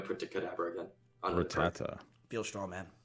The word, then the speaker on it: Rattata: On Rattata. Feel strong, man. How do you pronounce it? Is it Rattatat? What is this? I say Rattata.